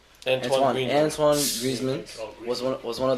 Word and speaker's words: Antoine Griezmann: Antoine Griezmann.